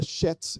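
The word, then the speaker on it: חץ: fui olhar o hebraico a pronúncia do hebraico seria chets é como se fosse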